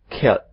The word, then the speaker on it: killed: Tolong dilihat lagi bagaimana walk dibaca walked, tajam. Tetapi kalau kill, killed, tumpul. Oke.